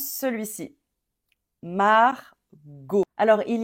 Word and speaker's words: Margot: ce prénom et donc quoi qu'il arrive no matter how we write this name on va dire o à la fin Margot o t a x